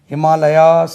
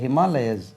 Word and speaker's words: Himalayas: Mountain ranges, the Himalayas, Himalayas னு உச்சரிக்க கூடாது, the Himalayas, Z என்று உச்சரிக்கணும், the Himalayas, Indian Z, the Himalayas, the Himalayas, நம்ம அது Himalayasனு உச்சரித்து பழகி இருக்கிறோம், right?